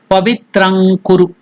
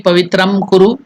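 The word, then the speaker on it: पवित्रं कुरु: So that nga has to be pronounced here. How? Pavitrang kuru. It should neither be pavitram kuru, it should nor be pavitrang, but it is kaka gaga nga, pavitrang kuru.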